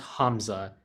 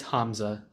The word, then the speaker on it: Hamza: a common thing that I get, but it's pronounced Hamza. You said Hazma. I knew Hasmi. I was gonna get around. Sorry about It's that. yeah, it's you're good. It's Hamza.